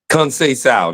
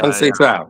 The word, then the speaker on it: Conceição: Conceição. There's a tongue twister. Yeah, Conceição, all right?